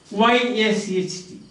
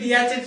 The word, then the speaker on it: yacht: YACHT yachet, YACHT yachet, YACHT yachet. It is not yachet, but it is yacht.